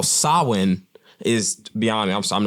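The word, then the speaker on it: Samhain: this ancient roots in the Celtic Festival of sawin it's pronounced it's spelled it's crazy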